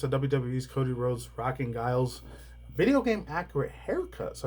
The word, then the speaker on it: Guile: I used to call him Gilly back in the day instead of Guile.